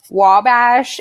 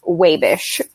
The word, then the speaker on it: Wabash: living in Indiana also it is not actually Wabash if you're from Wabash it's pronounced wave ish but there we go